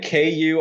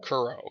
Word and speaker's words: Kuro: Is it Isn't it Kura or Kuro? Kuro? Kuro, Captain Kuro, yeah.